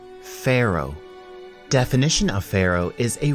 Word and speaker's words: pharaoh: our top 10 list again we have the pH which gives us the F sound and at the end we have a silent h pharaoh definition of pharaoh is